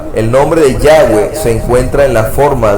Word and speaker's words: Yahweh: Él dijo: el nombre místico que se llama tetragrama se pronuncia Yahweh, ¿sí?